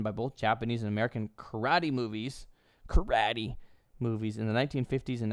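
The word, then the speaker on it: 空手: But it is karate, or in English we'd say karate, but karate is how you would pronounce it in Japanese.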